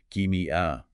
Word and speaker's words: ischemia: You pronounce it as ischemia.